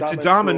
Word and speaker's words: Adama: It's Adama, not Traore. Adam. I know, but it's spelled Adam in it almost.